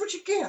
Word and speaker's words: Richard Gere: rhymes with beer. Yes, Richard Gere.